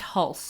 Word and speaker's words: Hulce: Is pronounced Hulse. Hulse? Yeah, I'll take your word for it. I said Hulse for a Hulse. long time, but I think I'm wrong. right, I think Hulse. Hulse is correct.